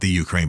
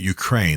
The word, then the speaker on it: Ukraine: The first reason that I believe is absolutely critical for us to support the Ukraine, not the Ukraine, but Ukraine, that's the proper way to say it, as they face down the Russian incursions, is Russia itself.